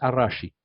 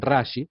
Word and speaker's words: Rashi: que siguen sus escritos a rashi Sí usted bueno la r no se pronuncia como r como ferrocarril o sea ustedes escrito verían rashi pero es arashi que es el acróstico